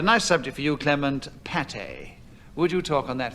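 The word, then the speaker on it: pâté: it falls out I'm pronounced differently like Pate which often has a circumflex over the A and accent a goo alongside the E it is a mass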